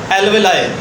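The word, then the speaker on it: alveoli: Bronchiole नहीं कहेंगे, हम उनको कहेंगे मेरा बेटा एल्वेलाई।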